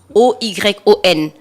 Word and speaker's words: Oyon: Après, on a Oyon. Ou c'est Oyon, non? C'est quoi Oyon. c'est écrit comment? Saison de rémission de pluie. Donc, c'est Non. la saison O-Y-O-N.